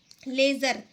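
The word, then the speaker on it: ledger: उसको बोलते हैं हम लेजर। एल ई डी जी ई आर डी। डी इसमें क्या होता है? साइलेंट होता है। ठीक है? इसको बोलते हैं हम लेजर।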